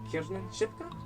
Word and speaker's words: Kiernan Shipka: Kiernan Shipka?